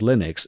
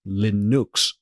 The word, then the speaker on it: Linux: People pronounce Linux, but it's not actually pronounced Linux. It's actually pronounced Linux, which what I call it in my country, in my language, we call Linux as the actual creator intended.